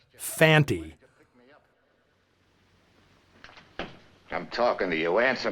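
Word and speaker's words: Fante: I'd assumed Lee Van Cleef's character was named Fanny since that's how both Earl Holliman and Bryan Don Levy always pronounce it it's only when Conte speaks the guys name does he clearly say Fanty I'm talking to you answer me why'd you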